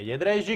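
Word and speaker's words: Jędrzejczyk: Jedrzejczyk è il numero 3, giusto Emanuele Bernardo? Più o meno, qual è la pronuncia? Ok, è Jedrzejczyk.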